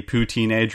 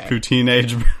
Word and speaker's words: Pouteenage: second one is the poo teenage rebellion you don't even say it right routine and yeah I know but that doesn't work with the pond now I know so it's routine age okay ridiculous but it's